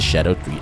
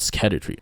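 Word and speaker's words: Scadutree: build a great example for this is the shadow tree Avatar and yes is apparently pronounced as Shadow tree and not skatter tree who knew right the track of this thing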